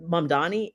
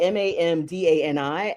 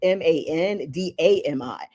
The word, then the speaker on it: Mamdani: There are like in your brain wiring, you may see Mamdani and you may pronounce it Mandami.